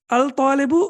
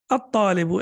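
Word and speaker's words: الطالب: It's difficult to pronounce it even. So, al-babu, yes. Al-talibu or at-talibu? At-talibu, excellent.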